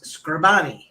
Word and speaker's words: Scribani: I've called I've I've always know I mispronounced your last name every time that it's scribani you did it all